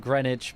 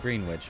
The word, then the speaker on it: Greenwich: Yeah, I know it said Greenwich, but it's spelled green witch. So, sometimes it's more fun to say it wrong.